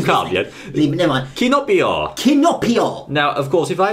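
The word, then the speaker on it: キノピオ: good so his name in Japan is actually kinopio kinopio kinopio it sounds like Pinocchio it does sound like pinio Pino no it's got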